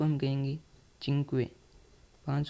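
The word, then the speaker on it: cinque: टी आर ठीक है पांच को हम कहेंगे चिंक पांच को हम इटालियन में कहेंगे चिंक चिंक इसको हम चिंक पढ़ेंगे पांच कहते हैं इसको हिंदी में लेकिन इसको इटालियन में हम चिंक कहेंगे पांच को ठीक है छ को हम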